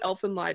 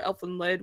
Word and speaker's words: Elfen Lied: If you know what Elfen Lied is, or Elfen Lid, whatever you like to pronounce it as, it's essentially about these